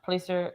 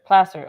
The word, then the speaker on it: Placer: 6 at 7 41 please sir placer i keep saying it wrong i'm sorry placer county sheriff's office says